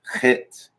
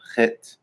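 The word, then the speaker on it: חית: This one makes more of a guttural sound. Chet. Chet. If you would like phonetically spell it out, you would see it spelled as like a CH or a KH, right?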